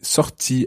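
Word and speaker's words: sortie: Anna would say sorti, S-O-R-T-I-E. And I would say sorti, sounds the same, but I would spell it S-O-R-T-I.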